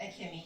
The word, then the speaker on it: Akemi: Speaker's name, I think it's Akimi. Am I pronouncing it correct? Akimi? Correct, Akemi, yes.